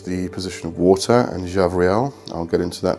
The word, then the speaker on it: Gabriel: And the B in the name is actually pronounced as a V. So it's not Gabriel, it's Javriel.